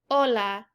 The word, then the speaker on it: hola: that with an f an important one is that the h is a silent letter so notice when we say the word hola we don't say hola we just say hola this is because h is always silent our next one is